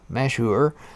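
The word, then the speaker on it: Mashhour: so the egyptian team of the tugboat mashhauer pronounced mashur celebrates the success of freeing the ever given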